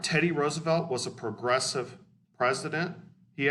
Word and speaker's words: Roosevelt: known for is the national parks system teddy roosevelt was a by the way his name is pronounced roosevelt but no big deal um he wanted to